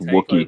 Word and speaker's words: Wookiee: I think it's Wookiee.